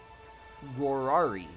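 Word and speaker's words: Rorarii: Then we have the Rorari.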